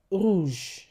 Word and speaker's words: rouge: R R Now, the French R is produced at the back of your throat. For example, rouge rouge rouge.